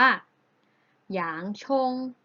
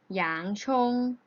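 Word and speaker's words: 洋葱: แนว ศจี น เเล้ว จะ ออก เสียง ว่า อย่าง ชง อย่าง ชง อย่าง ชง นัก เรียน ออก เสียง ได้ เรา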